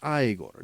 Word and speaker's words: Igor: for Jimmy to pronounce Igor igore it's pronounced aigor Jessica vanderbelt uh Michaela